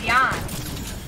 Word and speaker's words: Jan: It's Jan. Like, cause in Europe, they pronounce like J as like a Y-ish, so it's Jan.